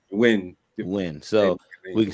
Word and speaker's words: Nguyen: believe you pronounce her last name Win. Yeah, Nguyen. I mean Win.